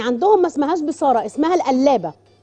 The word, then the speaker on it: القلابة: طيب البصاره الافغاني عندهم ما اسمهاش بصاره، اسمها القلابه، الجلابه، لا بالقاف، هي بالقاف بس بتتنطق جيم، القلابه، القلابه الافغاني، القلابه الافغاني، حاجه كده شبيهه بالبصاره المصري اللي عندنا بس ما بيحطولهاش خضره.